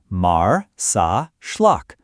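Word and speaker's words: Marsaxlokk: Welcome to Marzacllock, pronounced Mar Sa Schllock, Malta's most Instagrammable village and a living postcard of Mediterranean charm.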